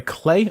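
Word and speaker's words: Klei: It's developed by Clay. I believe that's how it said. Clay Rhymes with Play is their Twitch series.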